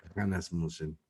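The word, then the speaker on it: Hanasmussen: Hannas Musen es con H y se pronuncia como J, Hannas Musen, con doble centro de gravedad.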